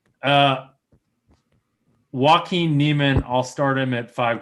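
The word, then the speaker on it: Joaquin Niemann: bias no i apparently don't know how to pronounce a j correctly uh joaquin neiman i'll start him at five grand seven eight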